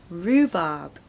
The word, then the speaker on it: rhubarb: quite well pronunciation tip you want to stress the first syllable Rue there's no h sound it's just a double o sound so Rue rhubarb no R sound in the second syllable rhubarb number six bouquet bouquet